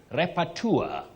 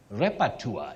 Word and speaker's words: repertoire: Now we have Brian Renson of Nairobi, repertoire. Repertoire. Don't say repertoire. Repertoire.